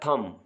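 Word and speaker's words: thumb: है उसके बाद है थम इसमें बी साइलेंट है टॉम इसमें भी बी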